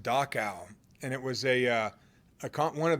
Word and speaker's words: Dachau: I was reading an article about, I think it's pronounced Dachau, and it was one of the first concentration camps the Germans put up before World War II.